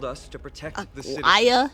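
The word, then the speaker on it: Aglaea: Aglaya, not Aglaya. Ignoring what she said? None of these names are pronounced how I thought they were.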